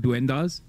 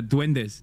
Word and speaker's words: duendes: __ ] truth of dendas did I say it right when no one else would I'm sorry it was over for me okay uh duendes not dendas dwes I never heard